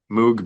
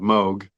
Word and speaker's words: Moog: we call Moog records Moog being the wrong pronunciation of Moog but it was all